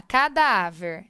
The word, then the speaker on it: cadáver: Então, nós temos lá cadáver. Então, vamos dividir. Cadáver. Então, sílaba tônica.